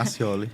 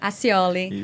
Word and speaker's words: Aciole: e também é professor do Rhema, professor Fabiano Accioli, tá certa a pronúncia? Isso, Accioli. Accioli.